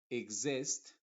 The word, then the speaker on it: exist: en algunos otros casos cuando una x está entre dos vocales va a funcionar como una x modificada por ejemplo vamos a decir exist exotic Exhibit exale exalt